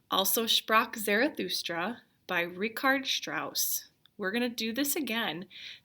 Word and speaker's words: Strauss: his name is ricard strauss rhymes with mouse ricard strauss lived a